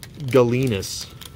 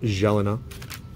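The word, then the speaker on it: Gélinas: jelena rook guard or if you are american you would say it martin galinas but it is pronounced jalen kind of like that patrick roy guy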